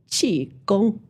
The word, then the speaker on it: Qi Gong: This Qi is Gong. the Mandarin pronunciation Qi Gong. Mandarin's a tonal language.